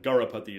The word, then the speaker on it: Garapati: Garapati is his last name. That's how you pronounce it.